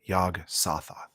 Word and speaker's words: Yog-Sothoth: ask a quick question is it pronounced yog-sothoth yes saw Thoth yog-sothoth okay yes yes yes got nothing